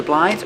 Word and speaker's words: blinds: You close the blinds or you open the blinds. Blinds. You don't really hear the D.